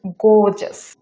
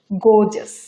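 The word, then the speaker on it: gorgeous: দৃষ্টিনন্দন দৃষ্টিনন্দন ইংরেজি হচ্ছে গোজাস এখানে র সাউন্ডটা কিন্তু প্রোনাউন্স হবে না এটার ইংরেজি হচ্ছে গোজেস গোজেস গোজেস পরে শব্দ উত্তেজনাপূর্ণ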